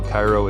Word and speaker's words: Chiro: I was just going to help people know Cairo is spelled Chiro.